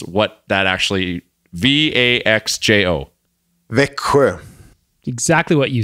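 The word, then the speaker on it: Växjö: the Lakers now I need you guys to pronounce what that actually VA xjo Vicker exactly what you said it's a double even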